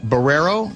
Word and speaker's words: Barreiro: My name is Barrero. There's a city in Portugal named Barrero and it is spelled the same way.